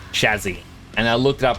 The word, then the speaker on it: chassis: told by my brother like, "No, it's actually pronounced chazzy." And I looked it up and I was like, "Yes, that is actually how it's pronounced. It's it is Chazzy, not chases."